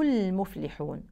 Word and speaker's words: المفلحون: ربهم و هم المفلحون هنا ننتبه لضم الميم كويس جدا لان في الغالب الناس بتكسرها وهذا خطا شائع البعض يقول هم المفلحون النطق الصحيح هم المفلحون الفاء ننتبه لها كويس جدا لان البعض مش بيبينها في القراءه بالاخص الفاء الساكنه فيقراوها